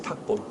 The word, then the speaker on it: 탁본: 다음에 척본이 아니라 이때는 탁본이라고 읽어야지. 탁본. 탁본 뜬다고 그러죠?